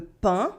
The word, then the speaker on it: pain: AIN as un for le pain, that means bread in French.